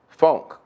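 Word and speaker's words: phonk: Um, it's considered a sub genre of hip-hop, but it's called, um, funk, and it's spelled P H O N K, right?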